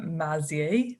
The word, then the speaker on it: Maizi: really delighted to be speaking today with mazzier now have i pronounced your surname correctly amazing amazing crazy amazing